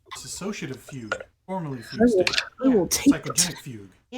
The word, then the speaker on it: fugue: And I was like, you mean fugue? And he was like, yeah, that's right, fugue. No, it's like the Pogues. No. What? No. Just like the Irish band, the Pogues.